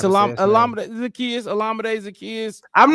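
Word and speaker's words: Olamide Zaccheaus: It's Alameda Zacchaeus.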